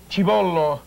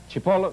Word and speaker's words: cipolla: Aglio, garlic, cibollo. Cipolla, the onion, l'oignon.